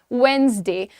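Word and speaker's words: Wednesday: The pronunciation is वेडनेसडे।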